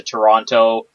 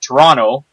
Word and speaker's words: Toronto: They're all off to Toronto, or I pronounced it the wrong way, as anybody in Canada knows. You don't pronounce the second T. If anybody's seen Argo, that's 100% accurate. Toronto.